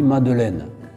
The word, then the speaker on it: Madeleine: de lacordaire au 19e siècle ordre puisque on prononce encore le gctat sur est aujourd'hui madeleine madeleine là c'est la même personne nous allons